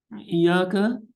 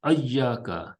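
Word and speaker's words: إياك: in the variant readings, it has been also been pronounced as ayyaka instead of iyyaka, ayyaka bi fathil hamza, yani with the fath, with the on the hamza, and also as hayyaka with ha.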